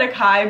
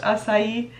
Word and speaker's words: acai: delicious blend of koopa kupuaku i call it a kai but i know it's pronounced acai and coconut oils cushiony soft and super conditioning